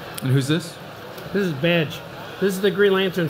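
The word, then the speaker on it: B'dg: He says, it's like Badger, but Badge. You don't say the jur part.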